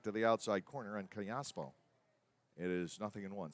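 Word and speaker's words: Callaspo: the outside corner and kiaspo it is nothing in one c a double l asp of course in the spanish language double l is pronounced similar to a y and in some dialects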